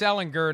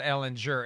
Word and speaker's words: Ehlinger: By the way, speaking of dysfunctional, it's Ehlinger, not Ehlinger.